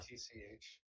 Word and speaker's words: Netch: I need to know how to spell it. It's not. Netch. Yeah. Nitch. Netch.